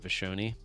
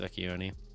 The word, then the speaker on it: Vecchione: Well, so growing up, everyone would pronounce it Vashoni, but it's properly pronounced Vecchione.